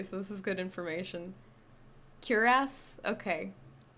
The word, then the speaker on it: cuirass: Cuirass. There you go. Cuirass. That's how you'd say that. Cuirass. Let's just call it a cuirass. I like that better. Rhymes with harass. Cuirass.